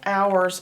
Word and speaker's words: hour: There are 12 hours on a clock. Hour. Hour starts with a H, although you don't hear it. It's like hour, but you don't hear the H.